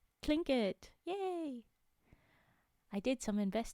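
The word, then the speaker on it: Tlingit: he tells us trinket it's spelled TL but I know that this one is called CL like you say CL instead clink it yay I did some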